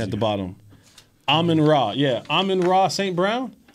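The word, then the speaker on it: Amon-Ra: What's the pronunciation at the bottom? Amon Ra.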